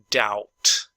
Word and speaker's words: doubt: Doubt, doubt. En realidad no pronunciamos ese B, es como que fuera muda.